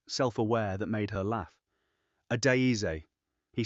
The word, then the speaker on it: Adaeze: He said her name the way he'd been practicing it in his head all night, getting the weight of it right, the 4 syllables, the slight emphasis on the second.